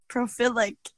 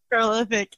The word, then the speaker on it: prolific: I was like, prophilic, and then you said prolific, and I was like, yeah, prolific.